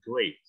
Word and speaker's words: great: Itu paling banyak bunyinya I, betul. Tapi di kata ini bacanya great.